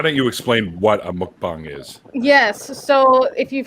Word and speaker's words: mukbang: Yeah, so that's why it does sound like bong, right?